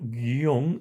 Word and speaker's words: guion: Bueno, la primera vocal U no suena en esta palabra. Si ustedes leen o ven, sí está la U, pero pronunciosla, por ejemplo, guion, ¿dónde sonó la u?